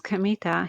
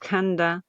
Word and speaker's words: Kamita: it's my name is Kamita. He said it's written with the characters for god kami and field gods field but it isn't pronounced kanda as you might expect it's pronounced kamita daskkina first learned